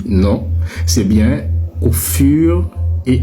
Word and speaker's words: fur: Ce n'est pas au fil et à mesure. Ce n'est pas au fuir et à mesure. Arrêtez de faire ça. Arrêtez de massacrer l'expression. C'est bien au fur et à mesure.